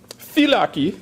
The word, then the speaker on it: thelarche: Thelarchy, Thelarche, and it's pronounced that way because of its Greek origins, refers to breast development.